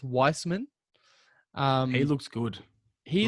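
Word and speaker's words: Wiseman: liked the sparks from james weissman it's it's pronounced weissman um he looks good he's like yeah for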